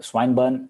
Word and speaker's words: Swinburne: the University of Adelaide swine swim swine burn I suppose that's the way you pronounce that Swinburne University clearly states